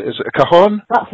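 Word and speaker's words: cajón: Also, I was very intrigued by your choice of I'm not sure if I'm pronouncing this correctly. Is it a cajon?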